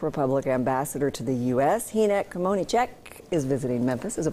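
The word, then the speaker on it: Hynek Kmoníček: Hynek Kmonicek is visiting Memphis as a part of Memphis in May, and I hope I didn't start an international incident with your name.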